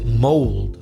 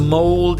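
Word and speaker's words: mould: Another word you're going to hear is mold. That's M-O-U-L-D. So mold is a type of fungus, mole.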